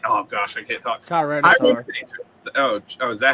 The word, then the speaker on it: Tyranitar: Tyranitar. Oh, is that how you say it? Tyranitar?